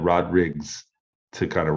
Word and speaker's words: Rodrigues: a lot of it's everybody says rodriguez and i don't mind that at all i'll take it but actual the portuguese pronunciation with the s on the end it's called it's rod riggs that's what i've been